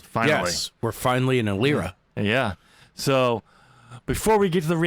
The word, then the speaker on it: Eilira: Kind of like the E in Eilira.